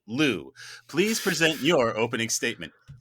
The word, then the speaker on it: Liu: And I'm told this is the only way to pronounce it. Lou, please present your opening statement.